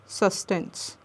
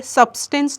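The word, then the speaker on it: substance: अच्छा, ये सस्टेंस है, इसको यहाँ पे जो बी है, सब्सटेंस नहीं पढ़ते, बी यहाँ पे साइलेंट होता है।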